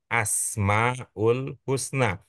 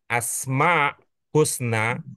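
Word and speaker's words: al-Asma al-Husna: bicara tentang Asmaul Husna walaupun itu kurang pas pelafalannya tetapi kita sudah sering mengatakan Asmaul Husna yaitu nama-nama Allah yang terindah ungkapan yang lebih pas menurut aturan kebahasaan Indon adalah asma Husna atau alasma oke sekarang sudah ketemu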